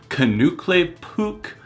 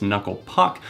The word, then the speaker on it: Knuckle Puck: mispronouncing the band's name kukle PUK I believe is the pronunciation that he mispronounces it as obviously it's knuckle Puck and Jared is no